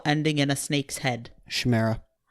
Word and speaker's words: chimera: in a snake's head shamira oh well that's not how I say it okay that's how I say it but chimera is that how you say it sure no one agrees on how to say it but yes ch IME RA yes you're right I know I say chimera okay I say Samara that's too fancy okay